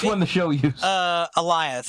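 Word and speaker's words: Alioth: the show uses uh elias it's like goliath it rhymes with lion yeah or okay that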